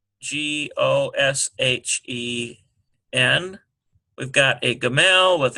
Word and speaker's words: Goshen: Here's, now this is actually pronounced God because it's a Kametz Hatuf. G-A-W-D. Here's a Goshen, G-O-S-H-E-N.